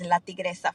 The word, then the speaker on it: LaTigresa: how it should be said with my terrible pronunciation. You did a great job. My name is and my company is Latigresa Fitness Co.